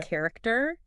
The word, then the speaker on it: character: is is and then you have words like anchor okay character and you hear that chat sound but it's more like a k sound isn't it it is